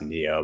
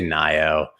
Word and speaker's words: NIO: And yes, it's pronounced Neo, but it's more fun to say NIO because look, it's not spelled like Neo. Neo. It's pronounced Neo, like the Matrix, which we are all